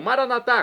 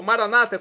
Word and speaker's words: maranata: E agora eu clamo maranatá, como dizemos nós católicos, ou maranata, como dizem nossos irmãos separados das comunidades evangélicas ou protestantes. Não importa a pronúncia, o significado, é o mesmo.